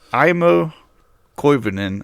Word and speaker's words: Aimo Koivunen: Um, so but it's IMO Kenan.